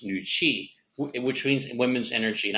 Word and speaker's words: Nooci: traditional chinese medicine for women nugent chinese is pronounced nuchi which means women's energy and i think that